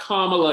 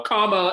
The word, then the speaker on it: Kamala: It is pronounced Kamala, y'all. Kamala and then Ella, L-A.